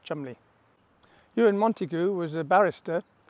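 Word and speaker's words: Cholmondeley: himself as chumley c-h-o-l-o-m-e-y it looks like but pronounced chumley euron montego was a barrister and he wanted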